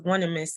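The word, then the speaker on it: Onesimus: One I must. That's how it's spelled. But his name was Onemus, and he was like a healer in the slave fields and stuff.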